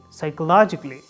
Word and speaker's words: psychologically: psychologically psychologically not psychologically whenever you see a before LLY you have to remind yourself that there is no ah there is no ah sound just say logically logically psychologically or drastically the third